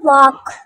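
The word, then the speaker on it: walk: बताया था ठीक है उसके बाद है वक वक में भी एल साइलेंट होगा वक का मतलब है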